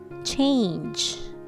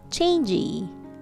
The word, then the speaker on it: change: me car good lastly change change all right just one syllable one sound change change not changey changey becomes two-syllable word okay so it's change repeat